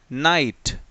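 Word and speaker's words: knight: अगर टी एड हो तो फिर वो ग साइलेंट होता है लाइक एनआईजीएसटी नाइट तो इसमें देखो ग का कोई साउंड आया क्या नहीं आया इसमें कोई साउंड आया नहीं आया ठीक है नेक्स्ट साइलेंट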